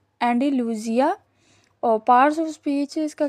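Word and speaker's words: Andalusia: Pronunciation इसकी क्या है एंडालूसिया।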